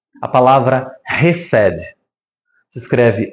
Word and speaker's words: Hesed: A palavra Hesed. Se escreve H-E-S-E-D.